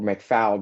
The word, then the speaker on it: McFall: I've got Wade McFall or McFowl, depending upon where you are in the country and how you say it, retired assistant special agent